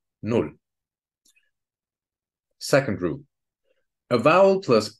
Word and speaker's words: null: Before a double consonant, a vowel has to be short, just like in null.